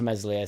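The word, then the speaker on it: Meslier: we hung on to Messier silent s in the hope that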